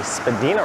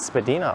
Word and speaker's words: Spadina: within properties so Legend has it that this stretch of Spadina is actually Spadina Road in terms of its pronunciation and then south of Bloor it is Spadina Avenue I think it was either a tick tock or YouTube video that I saw correctly pronounce that Spadina is spedina all the way through I'm pretty sure that's been debunked it's the